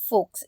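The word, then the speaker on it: folks: what is this mean तो फोक्स जो होता है इट्स एफ ओ एल के एस फोक्स इसमें जो एल होता है व साइलेंट होता है ठीक है इसका मतलब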